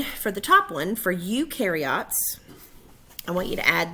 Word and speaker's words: eukaryote: Eu happily rhymes with do, so eukaryotes do have a nucleus.